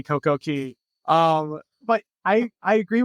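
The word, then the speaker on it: CocoCay: and just a just a note we say CoCo Key because right when we started saying Coco k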